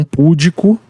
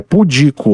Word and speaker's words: pudico: oximoron pudico tá E não púdico é pudico uma palavra paroxítona quiromancia